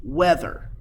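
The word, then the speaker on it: wether: castrated male male sheep share the same name weather just like hey the weather is hot but it is spelled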